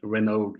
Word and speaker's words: Renaud: It's usually English people pronounce it my name like that. Renaud, also Renaud. Renaud because it's AUD, and it's Yeah. really difficult for them.